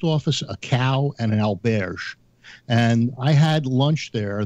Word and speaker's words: auberge: It's auberge, not Albert.